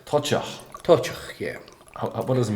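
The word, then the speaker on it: Toiteach: And this is How did you pronounce it? This is called Tochach. Tochach.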